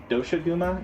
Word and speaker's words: Doshaguma: Alpha Dashmaga or Dasha Gama. Uh-huh. How do you pronounce that, Baron? I think it's Doshaguma is the way it sounds in the Japanese when they say it.